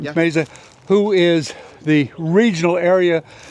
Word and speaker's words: Meza: Is that, am I pronouncing it right? Yeah. Meza, who is the regional area director for Folds